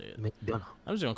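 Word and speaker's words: McDonagh: I kind of wanted Grimes to win, but it made more sense because in the end, JD McDougall. McDonough. That's how you say it. McDonough.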